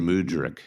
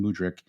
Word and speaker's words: Mudryk: Mudryk. Yeah, is that how you say his name? Mudryk. Yeah, how soon Mudryk gets on the pitch.